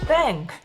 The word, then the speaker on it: Pin: 뺑뺑뺑뺑 벨보 뺑, 스펠링으로는 PIN, 현지 발음으로 뺑인가 봅니다.